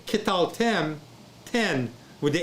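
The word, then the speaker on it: קְטַלְתֶּם: Okay, remember, the shewa is preceded by a short vowel. So it's katal. No, ketal, ketal. Then you add tem. Ketal tem, ketal 10. Okay, so if I say ketal tem, 10 with the N,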